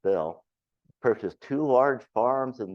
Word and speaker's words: Beal: Bell, it's spelled Beal, but it was evidently pronounced Bell, purchased two large farms in the vicinity.